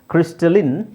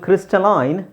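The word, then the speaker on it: crystalline: ಇಲ್ಲಿ ನೋಡಿ ಕ್ಲಾಂಡಸ್ಟಿನ್ ಇನ್ ಕ್ರಿಸ್ಟಲಿನ್ ಇನ್ ನಾನು ಹೇಳಿದೆ ಕೆಲವುದು ಕೆಲವು ಪದಗಳು ಎರಡು ತರನು ಉಚ್ಚಾರಣೆ ಮಾಡ್ತಾರೆ ಇದು ಕ್ರಿಸ್ಟಲೈನ್ ಕ್ರಿಸ್ಟಲೈನ್ ಬ್ರಿಟಿಷ್ ಪ್ರೊನನ್ಸಿಯೇಶನ್ ಇದು ಕ್ರಿಸ್ಟಲಿನ್ ಅಮೆರಿಕನ್ ಪ್ರೊನೌನ್ಸಿಯೇಷನ್ ಅದು ಬ್ರಿಟಿಷ್ ಆಗ್ಬೇಕು ಅಮೆರಿಕನ್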